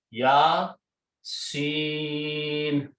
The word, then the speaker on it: Ya Seen: Huruf muqatta'at, ya is pronounced as it is, but Seen is pronounced with a long mud. Okay, Ya Seen. Okay, why? Because that's how Prophet ﷺ was taught, that's how he pronounced.